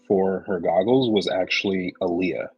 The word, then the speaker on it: Aaliyah: her goggles was actually Aaliyah the singer or Alia technically is how you say it but the singer she